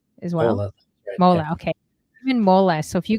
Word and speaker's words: Mowla: sure um and your last name is it pronounced Moola as well Moola okay mola so if you guys Google him